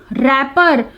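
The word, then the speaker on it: wrapper: Then is रैपर, इसमें W की कोई साउंड नहीं आती, दिस इज साइलेंट लेटर।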